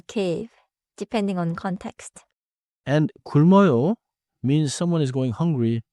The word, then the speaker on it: 굶: ends with closed lips 굶 완벽해요 don't say 구루 or 구무 no extra sound after the b침 let's compar침면 받침